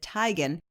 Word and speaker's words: Teigen: now someone has model chrissy teigen or she pronounces it tygan was chowing down on